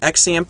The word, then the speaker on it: XAMPP: going to search uh xamp or zamp I've heard it pronounced both ways so we're going to